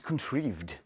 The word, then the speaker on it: Contrived: Dans les plus grosses boîtes sorties cette semaine, il y a An Age Contrived. Contrived. J'ai vérifié, ça se prononce contrived.